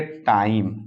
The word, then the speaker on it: time: का समान उच्चारण, मतलब हु बहु उच्चारण, सेम उच्चारण, जो लिखा रहेगा वही पढ़ा जाएगा। आइए देखते हैं, जैसे TIME, तो इसको पढ़ेंगे टाइम।